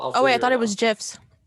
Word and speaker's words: GIF: true so however that g if it's a hard g which it is in this case it's graphic then it's g gif